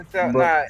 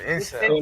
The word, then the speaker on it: incel: Intel. Explain. What's that? Is that Intel or Incel? No, incel, like INCEL.